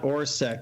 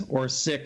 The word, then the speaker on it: Orsic: It's not Orsek. It's Orsic or something.